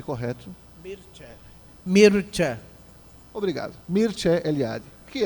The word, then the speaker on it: Mircea: E aí eu me recordo, eu até comentava agora há pouco com o irmão Ricardo, o conceito do Mircea Eliade, pronunciei correto? Mircea.